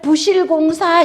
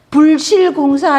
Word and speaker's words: 부실공사: 불도 되고 부도 되는데이 뒤에 오는 글자가 디귿 지긋 열매 실자가 올 때는 얘는 부로 발음이해야 돼요. 그래서 부득기, 부적절, 부실공사 이래야지. 불드기, 불적절 뭐 그죠? 불실공사 이러면 말이 안 되잖아요.